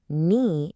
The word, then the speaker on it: knee: In no, knee, and knife, that K is a complete ghost.